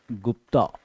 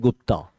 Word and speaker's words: गुप्त: तो यहां पे अपन देखते हैं गुप्ता। इंग्लिश में बोलते हैं गुप्ता बट एक्चुअली गुप्त है वो सही प्रोनाउंसिएशन उसका, ओरिजिनली गुप्ता एम्पायर।